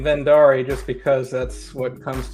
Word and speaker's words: Verndari: like that right okay it derives from an Icelandic word so basically however you say it is correct well I'll probably stick to saying vendari just because that's what